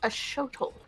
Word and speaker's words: axolotl: happy to learn yes proper pronunciation I found out is a shuttle a shuttle hmm something